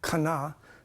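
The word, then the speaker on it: חנה: He is introduced when he observes Hannah, the Hebrew pronunciation, Kana, okay, praying for a son.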